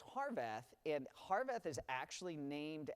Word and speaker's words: Harvath: pronounce Scott's last name heart H so it's harvath and harveth is actually